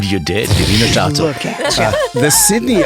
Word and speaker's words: Wiener Staatsoper: Wiener Staatsoper. What? In Vienna. That's the opera. Yeah. I pronounced it right? You did. Wiener Staatsoper.